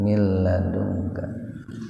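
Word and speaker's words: من لدنك: Mil itu nun mati ketemu lam, idgham bila guna. Jadi membacanya nunnya dimasukkan ke lam tanpa mendengung. Jadi tidak ditahan 2 ketukan. Tidak begini mil, enggak begitu. Mil ladungka, sepintas saja.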